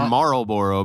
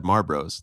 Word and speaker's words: Marlboro: It's supposed to be Marlboro, but everybody said Marbros. Like M A R B R O S.